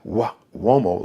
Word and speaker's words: Uomo: Now, Uomo is an Italian surname. So it's got the Uomo, like Wo, W-O, but it's Mario, M-A-R-I-O. Uomo is U-O-M-O. M-A-R-I-O-U-O-M-O, but it's pronounced Uomo, Mario Uomo.